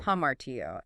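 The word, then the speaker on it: ἁμαρτία: Yes, hamartia. Hamartia. Pronounced hamartia.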